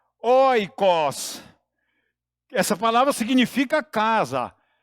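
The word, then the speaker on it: οἶκος: grega que você não precisa guardar que se pronuncia Oikos essa palavra significa casa e nesse sentido como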